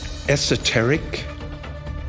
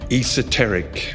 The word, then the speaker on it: esoteric: There are two pronunciations, esoteric or esoteric.